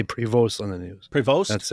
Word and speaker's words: Prevost: They just say prevost on the news. Preost. That's it. Yeah. Not provost. They just say prevost. Provost. The emphasis the emphasis is on the second syllable.